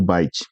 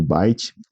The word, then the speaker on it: byte: Aí já na sequência a gente vai falar do byte, né? O byte ele escreve eh a pronúncia parecido com bits, né?